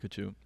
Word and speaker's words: Haq: sit down with a great guest like Daniel hu how do you pronounce your last name correctly actually you did